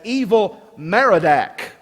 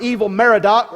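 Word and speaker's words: Evil-Merodach: Evil is not a translation of a Hebrew word meaning evil, but it represents in English letters the way a Jew would have pronounced the sounds of the Akkadian name Marduk.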